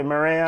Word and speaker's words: Mireya: Mireya, am I pronouncing your name correctly, Mireya?